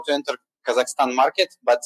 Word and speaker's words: Kazakhstan: Yeah, so that's the right pronunciation is Kazakhstan, to make it everything crystal clear.